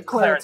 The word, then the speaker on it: claritas: claritas stands for clarity, but the Latin language doesn't have a long I. It's a short I only. So it's Okay, claritas. Claritas.